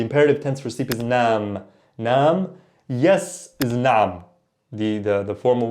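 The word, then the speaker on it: نعم: But the right pronunciation, nam with the ayn, nam versus nam.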